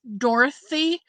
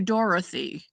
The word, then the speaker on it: Dorothy: Now, I had a sister named Dorothy, and we pronounced um all three syllables. Do you do two syllables, Dorothy, or do you do Dorothy?